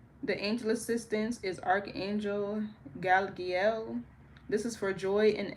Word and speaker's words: Galiel: The angel assistance is archangel Galiel. This is for joy and elevating the consciousness and that's spelled G A L.